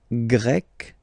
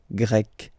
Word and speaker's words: Grec: You write them differently, but then if you listen carefully, Grec, Grec, you pronounce them the same way, okay?